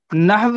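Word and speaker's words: نحو: जी नहव सही उच्चारण होगा, ठीक है, और इसका एग्जैक्ट मीनिंग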